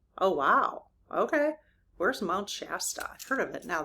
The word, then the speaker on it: Shasta: Are locations like Mount Shasta, if I'm pronouncing that wrong, they know what I'm talking about. It's Shasta.